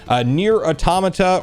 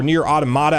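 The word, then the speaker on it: NieR:Automata: just $30 right now near automata or near automata I've heard it pronounced both ways it's only 23 bucks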